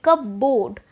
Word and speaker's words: cupboard: Now the spelling is C-U-P-B-O-A-R-D, and if I say cupboard, now what would be coming in your mind? A cup and a board. So because of the wrong pronunciation you are not able to understand. Whereas if I pronounce it in a right way, which is cupboard, then you will be able